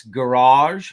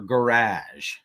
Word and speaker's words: garage: combat well here you it's garage or garage um i say garage and she says garage but when we were